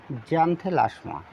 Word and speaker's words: Xanthelasma: আচ্ছা এটা কিন্তু এক্স অক্ষর। এটার বাংলার উচ্চারণও লিখে দিতে হলে আপনাদের সুবিধা হবে। জানে লাশমা। ঠিক আছে? তাহলে উচ্চারণটি হবে জ্যান্থেলাসমা।